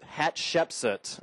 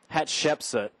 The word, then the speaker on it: Hatshepsut: the first had a daughter named hat Shep Hatshepsut gotta say it right Hatshepsut and she was a very famous person in